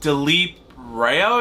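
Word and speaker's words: Dileep Rao: by a guy named delip Roo is how you pronounce it no matter he's the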